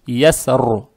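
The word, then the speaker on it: يَسْرِ: здесь глагол или существительное, ро надо читать твердо. Поэтому мы будем придерживаться мнения большинства и будем ро читать твердо, то есть ясру. Это при остановке. Но если вы решили продолжить, ро в любом случае читается мягко. То есть при продолжении надо читать вот так. Валляйли иза ясри хальфи. Вот так. Но лучше останавливаться и читать яср.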